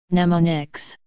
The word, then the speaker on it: mnemonics: by short names called mnemonics pronounced as mnemonics for example LD means